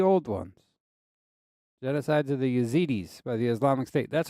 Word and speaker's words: Yazidi: ones genocides of the yazidis by the Islamic State that's what I was just talking about I said Heidi I said it the wrong way my bad I I pronounced it with an H zidi um yeah Isis